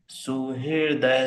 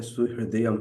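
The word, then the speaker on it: सुहृदम्: साम सर्व लोक महेश्वरम सु हृदय सर्व भूता नाम त्वा माम शांति मति सु हृदय नहीं है सु हृदयम है फिर से भोगता राम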